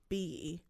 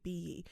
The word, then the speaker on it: Biyi: Biyi. Biyi. Yeah, it's a Nigerian name. I'm pretty sure that's how you pronounce it, Biyi.